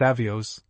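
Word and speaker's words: овёс: Ovsen, whose name is derived from oves, oats, pronounced avios, like the Teutonic sun god, is supposed to ride a pig or a boar.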